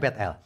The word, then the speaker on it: Bet-El: Bet-El. Bacanya Bet-El. Banyak orang bacanya Betel. Ya udah nggak apa-apa lah. Versi Indonesianya Betel.